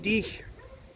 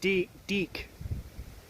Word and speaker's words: dich: Was Sie liebt dich, but they pronounced dich like diek.